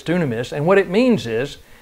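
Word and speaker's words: δύναμις: well anyway dunium is it's not dunamis that's what i used to say but it's dunamis and what it means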